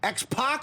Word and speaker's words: X-Pac: Now, it's X Pac or Pac. So, like Tupac, more or less spelled the same, but you go with Pac, right? There's a story behind it, but Okay. What is it? Well, u Hogan would call me pack, like as in six-pack, like a six-ack of beer.